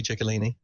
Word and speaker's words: Ciccolini: That is how that would have been pronounced, though. That if you once you put a Lini on the end of it, it does become Chick, and it's the Italian pronunciation would be Ciccolini.